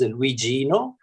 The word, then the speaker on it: Luigino: please introduce yourself and tell me how to pronounce your name if i don't have it correct right now sure my name is luigino luigino and luigino means uh a little